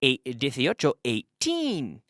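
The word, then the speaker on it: eighteen: So remember, one more thing, remember the intonation between the teens and the numbers that end in 0. So we say 18, da-da. And the numbers that end in 0, 80, with the intonation on the first syllable.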